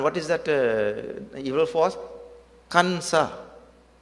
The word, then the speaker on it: Kansa: Kansa. 2 syllables. Kansa or Kamsa, if you want to say. Only 2 syllables.